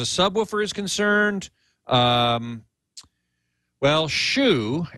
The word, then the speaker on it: Hsu: is concerned um well Shu S A Hsu it's actually pronounced some different way in Chinese sh I think or